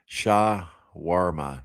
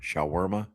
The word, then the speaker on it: shawarma: Uh that word that's pronounced shaarma. Shawarma by the way Larry.